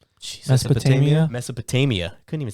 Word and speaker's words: Mesopotamia: dish it out it actually came back in mesopotone Mesopotamia Mesopotamia couldn't even say that word right he's